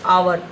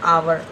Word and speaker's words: hour: Here as you can see, hour is starting with h, her. That is consonant, but the sound is vowel, hour. We pronounce it as a hour, as an hour.